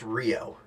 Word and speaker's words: REO: by a company called rio that's spelled r-e-o um but it's pronounced rio some confusion as to